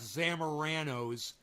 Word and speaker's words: Zamorano: You know, that and the fact that he, I think, purposely mispronounces Steph Zamorano's name.